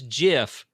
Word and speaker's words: GIF: it's Jif because it's an acronym, and GIF acronyms is do a not have to peanut butter.